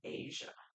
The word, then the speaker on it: Aja: of Asia so bad Asia it spelled like Aja but they say like the Redstone of Asia I guess too it